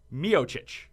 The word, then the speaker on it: Miocic: Miocic. Yeah, got it. Nailed it. And you even put the chich at the end, which is actually a Croatian pronunciation.